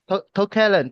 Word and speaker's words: Tokalent: How do I pronounce the name? Tokalent, yeah. Tokalent.